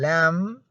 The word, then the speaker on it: lamb: letter p is silent the letter b is also silent when when it occurs where finally after as in lamb okay you don't have to try to pronounce that be here because it is silent you only pronounce the m lam come climb bam okay